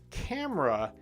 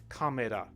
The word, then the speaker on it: camera: That's why camera is two sounds in English, natural English, or two syllables, right? Camera, camera. That's two sounds, two syllables. But in Japanese, kamera, that's three sounds or three syllables, and it totally changes